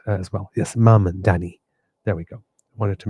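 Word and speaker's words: Mamdani: Yes, Mandani.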